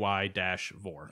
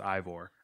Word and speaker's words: Eivor: Ismail tweeted his correct pronunciation, AY-Vor. Okay, so Eivor. Yeah. Which is funny because I would have assumed it was pronounced Ivor.